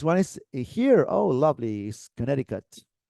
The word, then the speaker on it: Connecticut: is here oh lovely Connecticut listen and repeat Connecticut no no don't read this this is confusing Connecticut this is Connecticut okay in New York it's Connecticut all right Connecticut now we're talking can